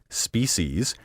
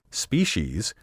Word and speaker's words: species: The alternative pronunciation, species, now used by many educated speakers, has been heard for about 50 years. The traditional pronunciation, species, has been around since the word came into the language in the 14th century.